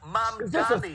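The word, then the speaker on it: Mamdani: Is New York City Mayor Zoran Mamani, pronounced Mam Dani.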